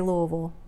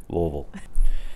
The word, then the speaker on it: Louisville: louisville louisville or louisville that's how it's spelled but that's not how you say it nope nope nope louisville it is if you say it wrong well no you're not from here so make sure you get it right so you can fit in just say it like you have a mouth full of rocks louisville well check out the